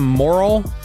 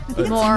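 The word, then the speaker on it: Morril: Do you pronounce his name uh Sam Moral or Morell? Moral. M O R R I L L. Yeah, it looks like it could go either way, but I've heard it pronounced moral.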